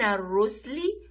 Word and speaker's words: الرسل: من الرسل، الرسل هنا عندي ألف، ننطق الألف اللام شمسية ما ننطقهاش.